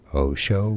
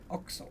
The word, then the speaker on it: OXXO: So, Mexican or Spanish pronunciation here is pretty straightforward once you know as OXXO. No, it's not Osho or Ocho. OXXO. OXXO, yes, with X's.